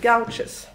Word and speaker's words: gouache: Hur uttalar man det? Gouaches.